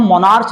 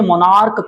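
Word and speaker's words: monarch: जैसे मोनार्क, मोनार्क में CH last में दिया हुआ है, इसके प्रोनाउंस क का साउंड देता है, CH यहां पर क का साउंड देता है, तो इसे हम मोनार्च नहीं कहते बल्कि मोनार्क कहते हैं।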